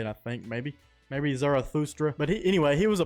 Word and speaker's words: Zarathustra: Zoroaster's given name was Zarathustra. That's how you say it, I think, maybe Zarathustra.